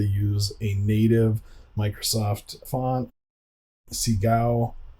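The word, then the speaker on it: Segoe: a native Microsoft font Seagal I believe is how you say it it's the default font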